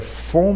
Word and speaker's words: Von: Como Ron Von, mas a pronúncia é fon, né? O V tem som de F, né?